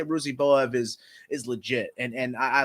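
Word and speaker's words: Ruziboev: Ruzenbo, how do you pronounce this guy's name? Ruzenboev.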